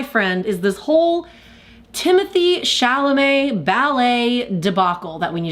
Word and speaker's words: Chalamet: is this whole Timothée Chalamet ballet debacle that we need to talk about. Isn't it also ironic that his last name is his last name and it kind of rhymes with ballet?